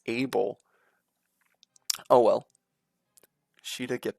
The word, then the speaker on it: Abel: never pronounce that name it's not even a hard name to pronounce it's able oh well she did get the kill get your next level up a bell I I think it's